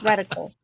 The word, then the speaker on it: reticle: my reticle was at that's what it's called re reticle I always say it wrong was to say receptacle that's you should put